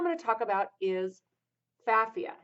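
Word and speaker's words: Pfaffia: So the first one I'm going to talk about is Safia. Now, Safia starts with a P. The P is silent.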